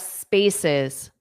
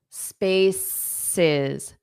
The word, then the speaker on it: spaces: The correct pronunciation of spaces, spaces, sis, spaces, spaces. So the syllable stress on the first syllable, spaces, spaces.